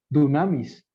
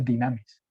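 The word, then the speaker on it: δύναμις: Recibiréis poder, dunamis, dinamis, porque se escribe U en el griego, pero se pronuncia dinamis.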